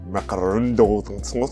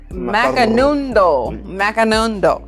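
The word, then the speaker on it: Macanudo: So this episode's cigar is a honey cigar from Macarondo. So how you pronounce that? Macanundo. The one with the M.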